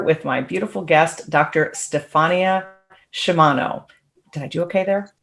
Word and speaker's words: Stephania Sciama: i am here with my beautiful guest dr stefania shimano did i do okay there is that the correct way to pronounce it that's right dr stefania why don't